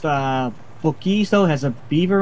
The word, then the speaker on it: Buc-ee's: It's pronounced Buc-ee's, though.